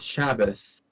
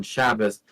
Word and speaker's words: Shabbos: it if it's um if it has a DOT it's pronounced like a t but if it doesn't have a DOT it's pronounced or an S sound so that's why you have like good Shabbos right being the Yiddish